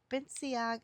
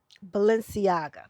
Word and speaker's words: Balenciaga: And Toya happened to put in the chat like who's fake Is it Benciaga? I can't Let me see. Benciagula? I can't pronounce the designer. Balenciaga. That's what I was trying to figure out.